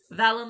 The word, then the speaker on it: Valen: to pronounce his name valen like valentine ah okay